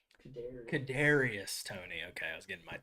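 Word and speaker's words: Kadarius Toney: It's just Kadarius. Kadarius Tony.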